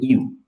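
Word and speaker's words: ewe: এটার উচ্চারণ হলো ইউ, হ্যাঁ, এটার উচ্চারণ হলো ইউ, মানে ভেড়ার স্ত্রীলিঙ্গ ইউ, হ্যাঁ, এটা উচ্চারণ হলো ইউলজি, মানে প্রশংসা।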